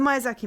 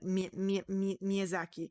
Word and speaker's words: Miyazaki: mysaki the mizaki movies I know that's not how you pronounce it because that's how Like Western people pronounce it but it's like Miyazaki it's oh god it's not even that I'm gonna butcher but anyway you know